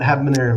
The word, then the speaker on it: Habanero: So tell us a little bit about Habanero Media. Well, first off, the H is silent.